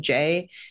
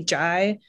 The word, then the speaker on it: Jai: Like the one I thought of was Jai and Jay, like how his wife starts calling him Jay, and he's like, no, I want to be Jai.